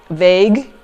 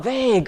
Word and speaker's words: vague: and I said well what you said is rather vagu and then he was like what and he said do you mean vague and I'm like ah vague okay so that's how it's pronounced okay so that's you